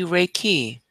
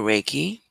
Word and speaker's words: Reiki: speaking on this evening will be Reiki or raiki it doesn't matter what your uh pronunciation is as long as